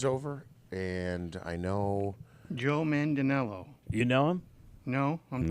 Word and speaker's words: Manganiello: In a video, Mandel passes off his briefcase to a new host, Joe Manganiello.